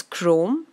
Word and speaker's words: chrome: those words in the comment section next is Chrome and the word after that is grown so guys focus on the pronunciation here while CH r om is chrome